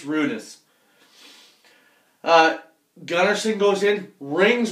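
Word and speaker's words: Rynnas: to go yussi and I keep calling him rhus because I'm sorry that's the way it's spelled but apparently it's rudus uh Gunnerson goes in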